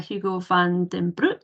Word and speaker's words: Hugo van den Broek: like to introduce you to today's guest uh Hugo Van Damme Brook is that pronounced correct yeah uh Hugo is a former